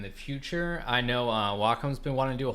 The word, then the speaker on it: Wacom: again exclamation mark welcome it took me a long time to pronounce and welcome and not wacom i spent like 15 years saying wacom i wasn't formed like a year ago that is walk is wacom it's wacom it's like soccum they said it's like